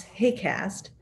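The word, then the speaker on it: HAQAST: next slide please this kind of hard to say acronym we pronounce hey cast and this is a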